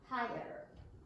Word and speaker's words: higher: So even when I tell Carlotta, don't pronounce that GH, take that out, that's silent. She still puts in a H because of this sound at the end. So she will go hi, her, higher. Higher.